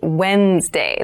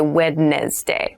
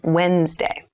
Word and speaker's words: Wednesday: mind this is pronounced Wednesday There's a d there but we don't say wedes day we say Wednesday Wednesday the 18th Wednesday